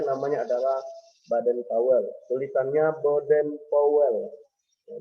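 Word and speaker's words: Baden-Powell: Tulisannya Baden Powell. Ya, bacanya Baden Powell.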